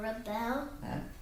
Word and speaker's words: rebel: Did the So it tells me that one's a noun, so they want you to say it this way. Did the rebel? Where's the accent? The rebel? But the accent's there.